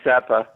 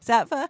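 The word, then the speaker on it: Saatva: And I found how do you say it, Sattva or Sattva? How do you say it? I say Sattva. Sattva.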